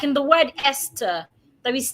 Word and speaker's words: Esther: Esther, the H is silent, e.t.c.